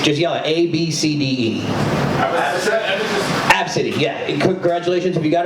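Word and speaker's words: Abcde: Absidy, yeah. Congratulations, if you got it right, you get a drink on your tab. But yeah, so literally, it's pronounced Absidy, which is dumb.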